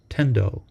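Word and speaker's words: 顛倒: In Japanese, the kanji used here are pronounced tendo, and this term can be translated as confused.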